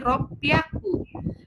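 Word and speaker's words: 六百: 600 yang harusnya roku jadi r piaku.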